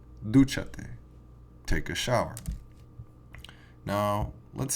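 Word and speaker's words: dúchate: And the written accent is going to go over the third vowel or syllable from the end, okay? So if we look at duchate, here's our first vowel, here's our second vowel, and our third vowel is the U, and so we say duchate, take a shower.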